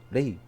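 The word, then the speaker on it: 类: 레이. 류 발음 안 돼서 레이라고 발음합니다.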